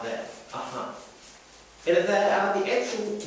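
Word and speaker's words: अ: that a is up this first up is pronounced ah fullness of everything and that fullness of everything that we considered up until now through all these other rules actually in essence that a is actually pronounced at the back of the throat up in a point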